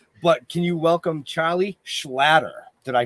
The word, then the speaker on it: Schlatter: I always say it's like it rhymes with otter, so it kind of sounds like a Jewish otter. Schlatter.